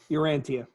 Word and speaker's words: Urantia: Urantia.